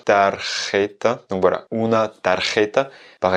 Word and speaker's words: tarjeta: On enchaîne avec notre cinquième mot qui est tarjeta.